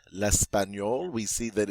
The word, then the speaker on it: l'espagnol: That GN makes a N sound. L'espagnol.